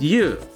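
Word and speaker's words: 油: himself or herself alright it's got something to do with fluid and it sounds like you what could it be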